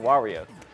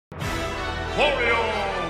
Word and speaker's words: Wario: But he goes, why? So you have to say why as one of the syllables. You're so stupid. You're an idiot. Shut up! Wario!